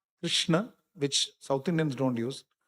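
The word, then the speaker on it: कृष्ण: You have to put Krishna, there should be halant below na. It's not It is na. Krishna.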